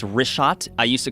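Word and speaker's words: Richat: first couple I just want to say it's rot I used to call it Riot I was mispronouncing it but let me ask you this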